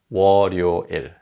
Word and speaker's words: 월요일: And because the following syllable begins with an 이응, the 받침 sound carries over. So 월요일 becomes 월요일.